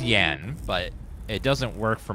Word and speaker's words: Jan: Uh it's pronounced Yan, but it doesn't work for my jokes if I say J unless I say Jan cuz Yanitor doesn't work.